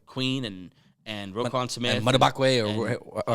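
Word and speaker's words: Madubuike: And Madabakwe, or how you say his name? So it's I said Matabuke, but I think it's Matabike. Matabike.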